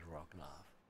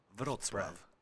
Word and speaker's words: Wrocław: Yeah, how do you pronounce that? Wrocław. Wrocław. Wrocław. Breslau. Yeah, Breslau, but now it's Wrocław.